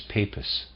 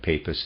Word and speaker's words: Papus: Papus, as he calls himself, readers aside, I'm pronouncing that Papus, it's P-A-P-U-S, it could be Papus. I like the sound of Papus, end of readers aside.